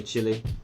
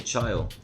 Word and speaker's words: Chile: country in South America some say Chile some say child a lot of Americans seem to say she'll a but however you choose to pronounce it we can all agree